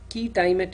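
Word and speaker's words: quia timet: Now, even among injunctions and ex parte injunctions, there is something called a key timet injunction. It's spelled as QUIA space TIMET.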